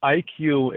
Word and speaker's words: EyeQ: where do we go so IQ is spelled ey and then the letter q photos um we wanted